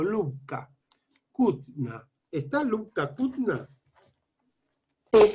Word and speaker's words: Lubka: ¿Cómo se dice, Lubka o Lubia? Sí. ¿Cómo se pronuncia tu nombre? Lubka. Lubka. Sí, en realidad me llamo Lubomira, pero bueno, Lubka es, sí.